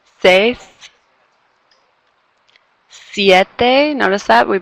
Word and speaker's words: seis: Notice you kind of hear those sounds now. E, I, seis.